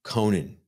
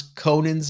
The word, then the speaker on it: Conan: And by the way, I keep saying Conan because of Conan O'Brien. It's Conan the Barbarian. Remember how we always used to mispronounce Conan's name as Conan O'Brien until we learned that it was Conan?